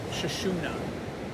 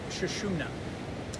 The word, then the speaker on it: Sushumna: And it's usually thought of as a white tube and is pronounced something like Sushumna or central channel.